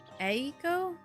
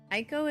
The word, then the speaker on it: Eiko: Eiko? Eiko. Eiko. Where's Chan with the A-E-I-O-Yo-O-E-O comment? Don't forget the clap. That's super important. Cham, How do I pronounce Aiko? Aiko. Aiko is how I always hear it pronounced.